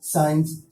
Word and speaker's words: science: جیسے کہ SCIENC سائنس, سائنس مس ہوتا ہے سائنس.